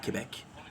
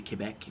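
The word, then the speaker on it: Québec: way, by the way, I have to say all pronunciation of Quebec is perfect. You heard that? The Quebec is perfect. It's perfect. Most English people would call it Quebec, but it's the way he said it is perfect.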